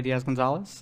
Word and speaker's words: Diaz Gonzalez: my name is Diaz Gonzalez uh it's pronounced as if there are accents but there aren't any in the actual name uh and I'm an